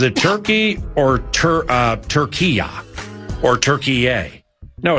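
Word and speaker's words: Türkiye: Uh Turkey formally formally changed its name to Turkeye. They say Turkeye. Uh there are other pronunciations that go Turkeya, but it's not Turkey. It's not like It's not like what you eat at Thanksgiving.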